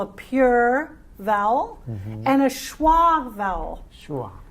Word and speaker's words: schwa: pure vowel and a schwa vowel. Schwa. Right? Wow. The schwa sound is a reduced sound. It helps us get the contrast between a stressed syllable and an unstressed syllable.